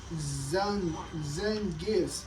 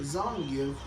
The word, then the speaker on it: Zangief: at Zangief's name, and some people call it Zangief, but like it's Zangief. But like then some people just call it Zangief. Even though it's Zay. Zan. That's how you. That's how you spell like, you know, the first initial of his name, the first three letters of his name. But then it's called Zun. I mean, some people call